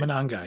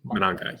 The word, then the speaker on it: Mananga: Mananga, yeah. Mananga, yeah.